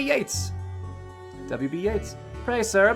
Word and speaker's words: Yeats: her about the computer it could be Yeats but I think it's Yeats if it's just pronounced like the whatever British dude the the writer hey Yates WB Yeats pray sir